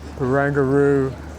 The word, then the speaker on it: Barangaroo: this is all the barangaroo bangaru that's how to pronounce it bangaroo Ferry Worf the distance